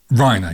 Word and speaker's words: Reiner: But yeah, right, Reiner. Yes, Reiner like Weiner.